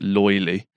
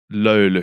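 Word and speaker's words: löyly: as an English person you might call it loyally but it's pronounced Lola it's not right yeah hello Lou yeah that's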